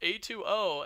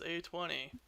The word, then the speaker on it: A2O: I'm going to go ahead and dock you one because you mispronounced A2O as A20.